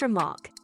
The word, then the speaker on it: RMRK: Remarque, pronounced Remark, is a fantastic project that allows NFT creators to build a system of infinite complexity using NFT Legos.